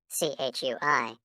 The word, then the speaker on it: Chui: CHUI, pronounced like chui, with a forceful exhale, which is also associated with the kidneys.